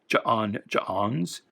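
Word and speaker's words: J'onn J'onzz: Always, like John Jones, the apostrophes there, I always pronounce it like hiccups. I always pronounce it as Ja'ons.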